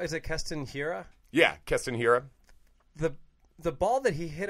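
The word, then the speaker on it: Keston Hiura: And am I saying his name wrong? Is it Keston Hira? Yeah, Keston Hira.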